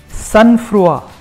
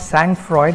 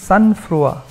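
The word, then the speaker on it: sang-froid: And the remaining 6, the other 6 are cinch, jaunty, proscribe, sunfrua, it's not sang Freud, it's sunfrua, carte blanche, and blithe.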